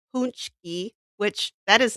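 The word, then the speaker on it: pączki: So this is these are and it's called pronounced punchki which that is not how that's spelled.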